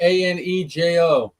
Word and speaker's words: Añejo: How do you pronounce that, Jose? Anejo.